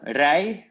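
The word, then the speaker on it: rijd: So, rij, you don't pronounce the D.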